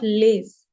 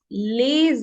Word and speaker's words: les: The first rule says that we do not pronounce any consonant in the end of any word. Like this is a word les. So we will not pronounce s in the end. We'll say le, not lays.